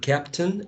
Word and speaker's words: captain: write down the word captain and look it up in the dictionary later right captain the last part is a schwa captain take a look